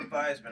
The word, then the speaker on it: Theismann: Joe was at Notre Dame, he changed the pronunciation to For Theismann Heisman. to rhyme with Heisman.